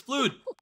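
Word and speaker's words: FLUDD: It's flood. Because they're spelled with U's, aren't they? It's pronounced in-game like the word flood.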